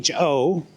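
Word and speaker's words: phở: It's it's actually written F P pho, right? But PH in in in Vietnamese is pronounced with an F.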